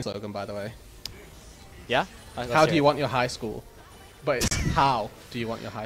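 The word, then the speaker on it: Hau: Okay, my last name is How. H-A-U sounds like the word how.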